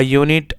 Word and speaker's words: unit: A is used if a word is spelled with a vowel but has a consonant sound. A unit, a university. Here U has the consonant sound of Y.